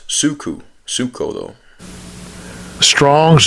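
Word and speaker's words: ψύχω: It's pronounced suku. Suko though. Strong's G 5594. Psucho. Psucho.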